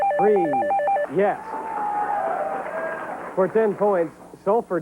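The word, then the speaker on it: frieze: The facade f a c a d e and rhymes with please. Belair sua. F r i e z. Freeze.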